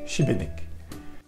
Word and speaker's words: Šibenik: D'abord, le S avec l'accent dessus, c'est le son CH comme dans cheval et dans l'exemple Šibenik.